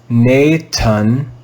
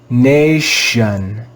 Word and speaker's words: nation: We would not read this word as Nathan, but with a soft T. Nation, nation, nation.